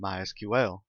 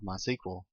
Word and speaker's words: MySQL: I've been calling it MySQL that is the correct pronunciation however it is also commonly called my sequel if you hear it